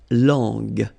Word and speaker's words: langue: Okay, so you get to put this U between the two to get the sound G. So you get la langue.